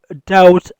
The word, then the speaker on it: doubt: We have doubt on Umar. We have doubt on Umar. doubt ویل کیږي شک. په doubt کې بیلن نه تلفظ کیږي بی سایلنٹ ده.